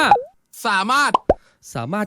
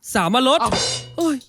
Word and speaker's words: สามารถ: ทำไม พูด อย่าง นี้ ส เสือ สระ อา ม ม้า สระ อา ร เรือ ถ ถุง อ่าน ว่า สามารถ ก็ แย่ ละ สาม รถ ไป เรียน มา ใหม่